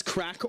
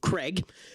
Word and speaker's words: craic: I am from the Emerald Isle the Irish streamer known as Crack Attack also known as Crack or to Americans because they can't pronounce for some reason Craig.